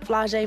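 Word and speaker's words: Flau'jae: My dad's rap name is Camouflage. My name is Flau’jae Monet. It rhymes, so I guess that's why he did it.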